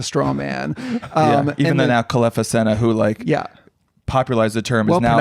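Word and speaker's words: Kelefa Sanneh: Even though now Kalefa Sena, who popularized the term, well is now pronounced, by the way.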